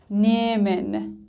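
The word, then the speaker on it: nehmen: زیار، ایا، گین، گین، نیمن، نیمن. همچنین که میبینید توی فعل نیمن ها خونده نشد و ای به صورت کشیده تلفظ شد.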